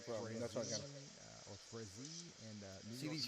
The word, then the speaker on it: Frazee: Frazee. Yep. Frazee.